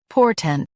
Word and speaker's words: portent: por tent portent Stress por and keep tent quick.